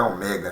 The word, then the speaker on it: ômega: uma letra Ômega letra grega minúscula na verdade pronúncia é um mega né Ó esse aqui é o maiúsculo e